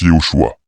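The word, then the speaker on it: יהושע: Josué, en hébreu se prononce Yehoshua.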